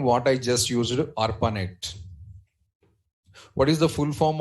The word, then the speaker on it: ARPANET: Not network, network actual pronunciation ARPANET.